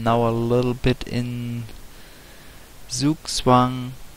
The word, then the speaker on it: Zugzwang: I'm now a little bit in Zugzwang, because I could actually pronounce it right since I am German, and it shouldn't be too hard to say Zugzwang correctly.